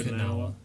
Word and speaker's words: Okinawa: So he was in Okinawa, is that what it is? Is that what it's called? Is that how you pronounce it? Okinawa.